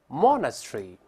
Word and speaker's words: monastery: 英式发音前面发 o，后面发 tree，再来一遍 monastery。